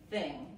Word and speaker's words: thing: En este caso, la G al final se pronuncia, ¿ok?